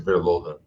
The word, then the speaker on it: Verloren: Procurem Verloren, escreve Verloren, mas é alemão, pronuncia-se Verloren.